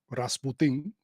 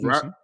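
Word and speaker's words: Rasmussen: Rasputin. I thought it was Rasmusen. That's That's how you say it, my man. You pronounce it like he's like Dominican and Rasmusen.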